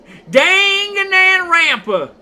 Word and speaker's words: Danganronpa: I cannot pronounce that word. Danganronpa.